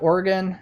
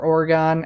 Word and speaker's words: Oregon: So after that we have Oregon, or Oregon, I guess, depending on how you want to pronounce it.